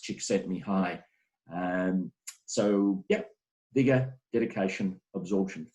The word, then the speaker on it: Csikszentmihalyi: By the way, this is pronounced Csikszentmihalyi.